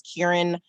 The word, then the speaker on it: Kieran: me my name is kieran uh it rhymes with the word hearing um and i'm a native new yorker i've been in baltimore since 2006.